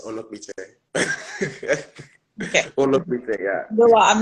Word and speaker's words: Onokpite: Onokpite. Did I pronounce It's that fine. right? It's Onokpite.